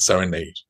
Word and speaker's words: Serenade: rest of his life, Balanchine always said Serenade. Mm-hmm. And I think he really thought that it should be pronounced according to the language of the country, how you say the word serenade as in music.